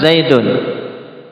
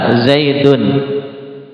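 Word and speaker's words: زَيْدٌ: Ketika diucapkan saja Zaidun ya seakan-akan kan di situ dal kemudian nun sukun zaidun.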